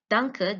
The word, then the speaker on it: danke: Danke, the first syllable is stressed, and in it includes all the highest pitch, longest duration, and maximum intensity.